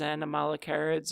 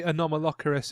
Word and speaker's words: Anomalocaris: the nominal carrots and does anyone want to mispronounce it as animal carrots or anomalacarus or any other things that we want to call apparently a non-malocaris is the way it's meant to be printed yeah I guess would